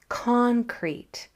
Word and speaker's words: concrete: So usually in a two-syllable word, that first syllable is accented, like concrete. But once in a while, that second syllable will be accented, like proceed. And that's when you'll see a double E sometimes at the end.